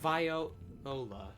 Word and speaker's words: Viola: I'll be right on the back of the Viola sometime. Viola. Okay, that's how they're pronouncing it. It's not viola. It's not like the instrument.